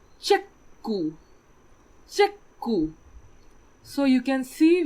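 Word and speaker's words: チェック: So if we have the English word check, in Japanese we will pronounce it as chekku.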